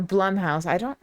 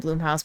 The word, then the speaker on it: Blumhouse: Because if you don't know, or Blumhouse, I call them Bloomhouse, but I'm pretty sure it's pronounced Blum, but I'm gonna stick with Bloom.